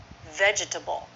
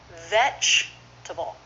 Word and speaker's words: vegetable: family what about vegetable do you say it vegetable I hear my students do that all the time I've almost never heard a native speaker do that vegetable not vegetable just three syllables with first syllable stressed vegetable all right let's